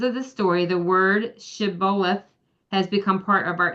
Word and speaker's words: Shibboleth: The people of Ephraim had their own regional pronunciation for the word Shibboleth, which means stream or floods. They said Sibboleth without the H, and this gave them away.